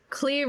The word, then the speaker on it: Clear: Clear Rivers or Clear Rivers? It's spelled Clear, but I'm guessing it's Cle.